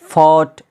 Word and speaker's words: fought: फॉट, FOUGHT, FOUGHT, यहाँ पर देखिएगा GH है, पहले क्या है, वावेल है, यानी GH से पहले वावेल आ गया तो यहाँ पर क्या हो गया, GH साइलेंट हो गया।